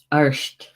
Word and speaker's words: Art: Bear, arsht. It's spelled A-R-T, but it's pronounced arsht in Gaelic, bear.